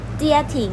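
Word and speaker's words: 家庭: ออก เสียง ว่า ว่า เจีย หลิง เจีย หลิง เจีย ทิ้ง นะ คะ คำ นี้ นะ คะ จะ หมาย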